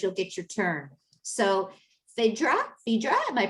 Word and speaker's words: Phaedra: So Phaedra, am I pronouncing that correctly, Phaedra? Yes, please introduce yourself. We want to learn about you. Good evening and thank you everybody. My name is Phaedra.